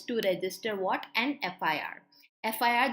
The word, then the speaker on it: FIR: FIR, the pronunciation is F, as in I am saying AFF, and that's why an will come.